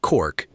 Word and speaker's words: caulked: Caulked boots, pronounced cork, carried short, sharp spikes set in the heel and in rows along the sole.